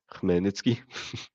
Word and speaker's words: Khmelnytsky: For everyone who wanted to hear it, it's pronounced Khmelnytsky.